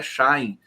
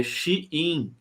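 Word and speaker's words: Shein: aqui diz que eh a pronúncia da da empresa de vendas chinesa não é Shine é xin xin deixa eu colocar aqui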